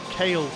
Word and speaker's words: Kale: Telling me it's kale Tanaka. Like the vegetable, curly kale.